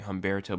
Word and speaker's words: Humberto: I see multiple people calling it Humberto. I've seen people calling it Humberto, but I actually did look at it and look how it actually is supposed to be pronounced, and it's actually supposed to be Humberto. So if they say Humberto, they're saying it wrong.